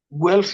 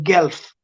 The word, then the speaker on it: Guelph: the university of guelph okay wealth university wealth guelph university okay or gulf depending on your pronunciation gulf university uh can you can